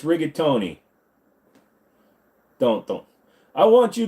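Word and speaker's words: rigatoni: in their language oh I want some rigon no it's rigatony don't don't I want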